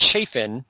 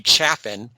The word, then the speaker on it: Chaffin: Debbie's name is twice mispronounced Chafin when it's actually Chaffin.